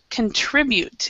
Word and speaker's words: contribute: And then this is contribute is how we pronounce it. So we pronounce the middle part is the stress. Contribute instead of contribute.